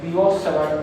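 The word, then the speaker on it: Biot–Savart: है which is called बियोट-सावर्ट लॉ। कुछ लोग उसको बायट-सावर्ट लॉ भी बोलते हैं, दोनों ही प्रोनाउंसिएशन सही है देखा जाए तो।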